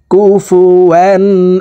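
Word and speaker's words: كُفُوًا: কলগলার হরফ নিচের দিকে ধাবিত করে ধাক্কা দিয়ে উচ্চারণ করব আহাদে কুফুয়ান আহাদে ওয়ালাম ইয়াকুল্লাহু কুফুয়ান আহাদ ওয়ালাম ইয়াকুল্লাহু কুফুয়ান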